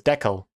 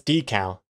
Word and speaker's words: decal: is it I think I used to think it was deco but I think it's decal which sounds wrong decal it's D it's definitely decal okay we're in agreement